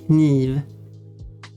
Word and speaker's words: kniv: word in Swedish, but the word knife, the I sound in English is often the E sound in Swedish, and the K is pronounced in Swedish, so knife becomes kniv. Oh yeah, the F sound is a V sound as well.